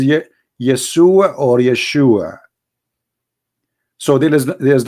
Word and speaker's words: Yeshua: those it isn't because they cannot pronounce the correct word the correct word in the Hebrew is Yeshua as simple as that